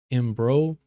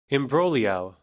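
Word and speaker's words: imbroglio: Oh, the G is silent. Imbrolio. That's Hold on. Brolio. Imbolio. Brolio. So, no G.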